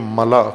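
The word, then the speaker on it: ملأ: ملا ملاح نہیں ہے، بعض غلط تلفظ کرتے ہیں. ملا، میم لام الف حمزہ، ملا، جیسے خلا ہوتا ہے، خلا، غلط تلفظ خلا کرتے ہیں اردو میں، یا اردو سے ملتی جلتی زبانوں میں خلا نہیں ہوتا، خلا، اور اسی وزن پر ہے ملا.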